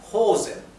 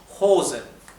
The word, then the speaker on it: Hosen: y una vocal después la o se pronuncia larga hosen si no es hen es hosen y la H es